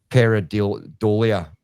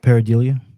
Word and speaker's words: pareidolia: point to radio interference, background noises, or audio pareidolia. How do you pronounce that? Pareidolia.